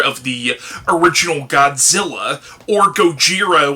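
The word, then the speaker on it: Gojira: the original Godzilla or go jir which is the Japanese pronunciation of Godzilla as well as several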